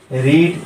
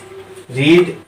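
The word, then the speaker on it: read: रीड, एक और example लेते हैं, रीड। रीड का उच्चारण पास्ट फॉर्म में रेड होता है, लेकिन स्पेलिंग सेम ही होती है।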